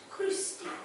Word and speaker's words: Crusty: Oh, Agatha Crusty. It's pronounced Crusty. You know, kind of fancy, like the way you say Pilates.